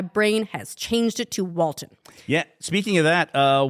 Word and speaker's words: Walton: recently learned that um Walter goggin it's not his name wal it's Walton you've been calling him